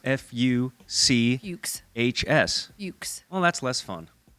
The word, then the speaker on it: Fuchs: And how would you really pronounce F-U-C-H-S?